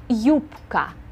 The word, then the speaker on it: юбка: Notice that we pronounce this word with a P sound and a K sound in the middle.